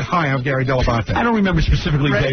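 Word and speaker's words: Dell'Abate: said hi I'm Gary delabanta I don't remember specifically day one but I know I got the pronunciation de la bate from you I said that is the proper way to pronounce it but no but I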